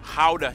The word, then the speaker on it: Gouda: And the pride and joy of the nation, Gouda cheese. Yep. That's how you pronounce it, guys.